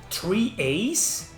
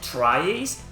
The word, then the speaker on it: tri-Ace: unexpected twists you know i think it's actually pronounced three a's not tries because after all these guys were three people who worked on wolf team the original team who developed tales of fantasia so when they left the studio they called themselves the three aces so three a's i don't wanna argue